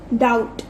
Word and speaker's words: doubt: Next doubt, doubt में B को circle करेंगे, B is silent.